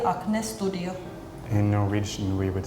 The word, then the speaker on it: Acne Studios: In Finland we would say Acne Studio. In Norwegian, we would say Acne Studio. I also noticed that the A sound is different. We say it like acne, but you guys kind of say like Yeah, it's like, Yeah.